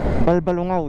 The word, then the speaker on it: Balbalungao: is tinatawag nila itong balbalungao dam kasi syempre sa Pangasinan meron tayong bayan ng balung kaya ganon tinawag siyang balbal which is ang tama ang pagpronounce is balbalungao dam so Ayan na